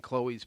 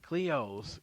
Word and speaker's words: Cleo's: It's not just taking Chloe's, picking it up, and putting it on the south side. That doesn't. Cleo's, not Chloe's.